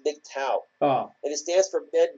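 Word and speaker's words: MGTOW: yeah it's eto W it's the acronym that's pronounced big cow yeah you know it's not big toe it's big tau and it stands for bet going their own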